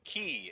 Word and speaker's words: Key: Yes, Key is the pronunciation on the Cannons pitcher.